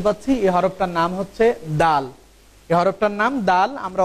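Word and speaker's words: د: এই হরফটার উচ্চারণ হবে জিহ্বার আগা সামনের উপরের 2 দাঁতের গোড়ার সাথে সংযুক্ত হয়ে হরফটির উচ্চারণ হবে এইভাবে। আপনারা আমার দিকে খেয়াল করুন, দাল দাল দাল।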